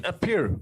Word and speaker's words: Apiru: Kabiru, Egyptian Apiru.